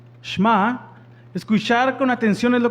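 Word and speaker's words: שמע: palabra oídme viene una palabra hebrea que se pronuncia sma escuchar con atención es lo que significa a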